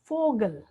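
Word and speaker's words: Vogel: होता है फाउ, और इसका जो प्रोनाउंसिएशन होता है वो होता है एफ, एफ प्रोनाउंसिएशन होता है। और इसको हिंदी में अगर हम उच्चारण देखें तो फा, फा। और इसका एग्जाम्पल जो है फोगल, फोगल, फोगल, फोगल इंग्लिश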